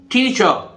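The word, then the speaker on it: teacher: टीचर, टीचर, ठीक है, अध्यापक।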